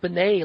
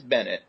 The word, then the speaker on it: Bennett: Is his name Bennett? I've been pronouncing it Benet like all week. Yeah, it's it's Bennett.